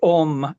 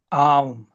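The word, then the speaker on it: ॐ: But if we read the Om, it's correctly written Aum, and every Brahman pronounce it Om, and of course, it's very rare to hear it pronounced Aum.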